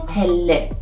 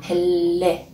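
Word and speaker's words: پله: So originally there is two of the letter lam, and if I want to pronounce it slowly, it's like pel le. You can see we say pel le.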